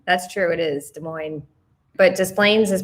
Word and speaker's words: Des Moines: Yeah, Des Moines is pronounced Des Moines. That's true, it is Des Moines.